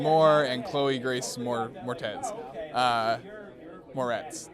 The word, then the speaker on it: Moretz: Moretz, that's how you say it.